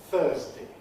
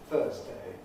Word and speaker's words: Thursday: I said Thursday with D at the end. It can alternatively be pronounced Thursday with A, but I weakened it Thursday.